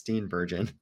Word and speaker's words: Steenburgen: And she's like, "I'm going to tell you how to pronounce my name correctly." And I was like, "Girl, I got you. It's Steenburgen."